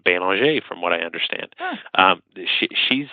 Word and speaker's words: Belanger: People, Michelle actually, she pronounces her last name Belanger, from what I understand.